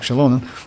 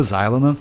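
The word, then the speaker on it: Xilonen: So yeah, until like official like that she like her name pronounced like Shalon, we called her Xylon which is actually was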